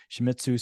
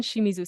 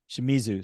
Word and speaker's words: Shimizu: have with us uh another great expert shitzu did I pronounce that correct it's good enough hello enough